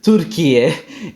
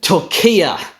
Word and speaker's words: Türkiye: And so perhaps what happened is the radio host heard what he thought sounded very much like this sort of long closed front unrounded vowel, and he just assumed that, oh, it's only going to be long if that's where the stressed syllable is. So that's how he turned Türkiye into Türkiye, right?